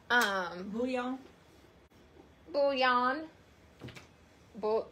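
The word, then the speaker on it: bouillon: like um who y'all bullion bullion you know yeah yeah the cube it's not they say yeah there's no end like it's not booting his tongue ever hit the end the top of your mouth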